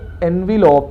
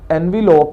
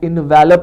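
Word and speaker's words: envelope: बहुत सारे स्टूडेंट जो है इसको अमूमन जो है वो गलत प्रोनाउंस करते हैं, तो इसकी जो राइट प्रोनाउंसिएशन है वो एनविलॉप है, एनविलॉप है, ये जो है इन्वेलप नहीं है।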